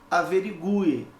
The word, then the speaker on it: averigue: O mesmo acontece com a palavra averigue. Aqui, a letra U, meu querido, é pronunciada agora com mais intensidade.